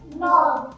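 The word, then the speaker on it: know: এগুলোকে নব বলা হয় ঠিক আছে তো এর উচ্চারণ কি হবে নব নব একসাথে সকলে নো কে এন ও ডব্লিউ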